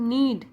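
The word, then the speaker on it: knead: तो उसको बोलते हैं नीड के जो होता है वह साइलेंट होता है तो नीड मतलब गुथना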